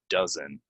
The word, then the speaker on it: dozen: dozen meaning 12 right it's not a o it's a uh du du dozen weapon this one gets